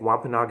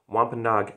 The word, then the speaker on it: Wampanoag: 90 uh um wampanoag i think wampanoag is how you pronounce it wampanog uh natives that helped